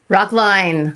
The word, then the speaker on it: Rockline: Rock line, like a conga line.